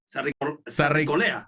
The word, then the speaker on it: Sarricolea: How do I pronounce that? Sarricolea, like that. You did it the right way, yeah.